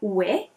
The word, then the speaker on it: Wei: name of that company weight is exactly the way to say it it's sort of like saying yeah it's a different way of saying yes and it is it